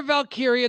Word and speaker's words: Valkyria: Lyra yes, Valkyria. There's two Y's. One is pronounced like an I. The next one's pronounced like an E.